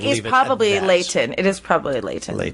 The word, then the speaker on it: Leighton: I I said Leon. Leighton. Leon. Leighton. I would say Lei. Well, because it's Lee.